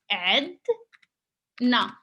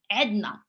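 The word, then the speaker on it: عندنا: have عدنا, which is actually we mostly like pronounce it عدنا without like the first N. It's just because for pronunciation it makes it easy, and this is like we have عدنا عدنا.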